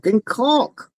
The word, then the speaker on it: caulk: some caulk, right? you know, and uh I'm sorry, but I have to say real quick, no man pronounces an L more than in the word caulk.